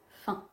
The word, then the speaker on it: faim: en revanche dans fin on ne prononce pas le M c'est le son 1 fin j'ai bien compris que